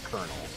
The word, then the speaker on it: colonel: spelling and french pronunciation it's a kernel not to be confused with a corn kernel which sounds exactly the same but spell differently but hey i was